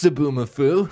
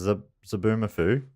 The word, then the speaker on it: Zoboomafoo: Thanks, Zoboomafoo.